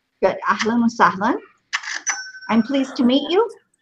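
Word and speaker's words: أهلا وسهلا: Ahlan wa salam. Good. Ahlan wa sahlan.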